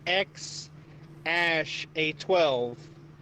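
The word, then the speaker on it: X Æ A-12: no show essentially he says okay so it's pronounced X ash a 12 yeah it's weird it was all my wife's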